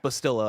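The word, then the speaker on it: Bastila: Bastilla, I believe, was what chat told me is how to pronounce it.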